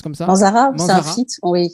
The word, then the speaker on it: Manzara: Ça se prononce comme ça? Manzara, c'est un Manzara.